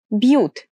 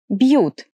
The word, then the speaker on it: бьют: So when I say beautiful, the very first sound is the soft B. B. Beautiful. B. Beautiful. B. Бьют.